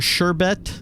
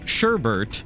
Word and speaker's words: sherbet: Did you know it's supposed to be pronounced or sherbet or whatever? Well, okay. It's spelled sherbet. Everybody pronounces it's spelled sherbet. Everybody pronounces it sherbert. We put an R in there on the side, like at the end.